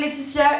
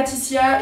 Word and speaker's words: Laetitia: Alors, je m'appelle Laetitia et pas Titia et pas Titi et pas Letiti et pas Laetitia avec un C ou avec un Z. Laetitia, L-A-E-T-I-T-I-A.